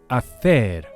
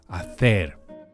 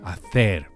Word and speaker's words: hacer: So the common little verb to do in Spanish is hacer, giving extra weight to the last syllable, stressing the er, and being careful not to pronounce the H, all H's in Spanish being silent. Hacer.